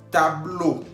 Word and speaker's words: tableau: Tableau. Tableau, que significa pizarrón. Estamos viendo al final, tableau lleva E-A-U, que se pronuncia O en español.